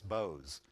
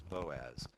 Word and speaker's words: Boaz: I said oh so your last name is Boaz she went no it's Bose so when I look at I think of Bose but um we always pronounce it as Boaz um huh and Boaz is the one who